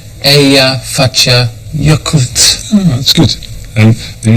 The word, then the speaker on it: Eyjafjallajökull: How do you pronounce its name? It's Eyjafjallajökull. Eyjafjallajökull.